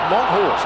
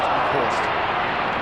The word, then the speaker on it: Monkhorst: What's the correct pronunciation? He said Monkhorst. Monkhorst. That's how it's spelt, Pete. That's how it's spelt, and that's how it's pronounced.